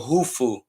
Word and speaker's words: Khufu: They got pyramids, the pyramid of Khufu, the pyramid of Hufu. That's how you say his name, actually.